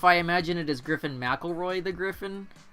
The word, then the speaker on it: McElroy: I'm still salty about the McElroy pronunciation because I am a MC last name too, and ours is Mick something, not Mac something, because there's no A.